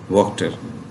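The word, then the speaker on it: Wachter: ये है असल में फॉरेन वर्ड है ना, ठीक है, लेकिन उस लैंग्वेज में थोड़ा डिफरेंट होगा, लेकिन अडॉप्ट करके इंग्लिश में इसे वक्त जो है वो प्रोनाउंस करते हैं, वॉशर या वाटर की बजाय वॉक्टर।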